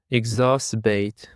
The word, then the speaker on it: exacerbate: And now let's jump to another word which is exacerbate. Exacerbate. The stress is on the second syllable.